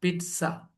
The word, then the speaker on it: pizza: And we pronounce them not with Z sound, with T and S sound. T and S. Yeah. T and S. Pizza.